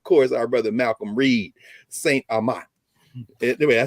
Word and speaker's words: St. Amant: Rouge, and of course our brother Malcolm Reed, St. Amant.